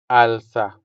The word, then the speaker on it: alsa: The next word here is to lift, which in Hiligaynon is alsa. Alsa. Alsa. The stress is on the first syllable, making the first a sound longer than the second one.